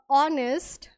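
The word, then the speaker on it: honest: वी all must respect a ऑनेस्ट। अब देखो यहां पे ये साउंड एच से शुरू है पर साइलेंट होता है। और कहां से? हमें अ की साउंड दे रहा है। ऑनेस्ट।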